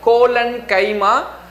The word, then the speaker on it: collenchyma: pla parenchyma second one is colon chemo please pronounce it properly c o l l e n colon chima and third one is karan kaima now you